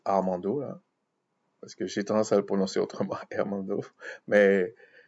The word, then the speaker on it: Armando: jours de quelqu'un qui s'appelle Armando il se prononce Armando parce que j'ai tendance mais moi c'est pareil